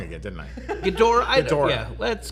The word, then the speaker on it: Ghidorah: of the monsters right that's where Godzilla fought gadira I said it wrong again didn't I Ghidorah let's call the whole thing but also like